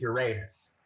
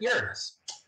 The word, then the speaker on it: Uranus: By the way, only school kids pronounce this Uranus. It can be pronounced both ways, but basically space scientists pronounce it Uranus.